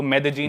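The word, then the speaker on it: Medellín: city है मेद जीन spelling में उसमें डबल एल आता है मेद लीन होता है लेकिन कोलंबियन स्पेनिश में ल को ज बोलते हैं तो मेद जीन वो शायद उसकी मेन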